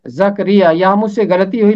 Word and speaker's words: زکریا: ہے۔ اگلا نام ہے زکریا، زکریا۔ اس کا تلفظ جو ہے یہاں بھی رے کے نیچے زیر ہے، زکریا، یہاں مجھ سے غلطی